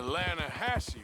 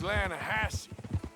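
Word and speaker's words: Lannahechee: some beautiful steelhead trout you mean the lahash river no no no no no no the the lahache it runs right near here yeah but it's pronounced lassi why is everything in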